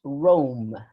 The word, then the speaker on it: Rome: in here catalina this this word is roma it's it is pronounced rome it's a it's a it's a dip song oh rome it's not wrong it's rome okay okay okay um